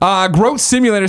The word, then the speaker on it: Groat Simulator: Like goat, he says it's pronounced Goat Simulator with an R. So GR. There you go. Groat Simulator says, I shouldn't have to say this, but 9 times out of 10, people pronounce it like grout.